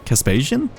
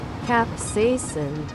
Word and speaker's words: capsaicin: Caspasian cream? Caspasian. Pronounce. Capsaicin. It's capsaicin. Fuck.